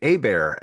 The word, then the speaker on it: Hebert: So the H is silent and the E is like an A and the T is silent like Colbert, like Stephen Colbert.